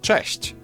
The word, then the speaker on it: cześć: Now Polish ch is a bit harsher than its English counterpart, but there's also a comparable softer sound, ch. You can hear both in the word cześć. English version falls somewhere in. Okay, but that's insane. I don't hear the difference, honestly. Ch. You can hear both in the word cześć. Cześć. I guess it depends on whether it's the front or back of your mouth you're making the ch sound.